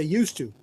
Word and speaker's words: used to: So we ended up deciding to drop the D in used and used and just say used to, which is very common.